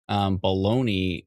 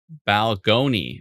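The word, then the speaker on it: Balgonie: Bologna, or did I say it wrong? Balgony. Oh, it's Balgony? I always thought it was Baloney. I don't think there's a Balgony.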